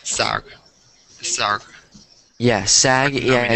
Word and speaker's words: SAG: A-G is in a word, so it's SAG.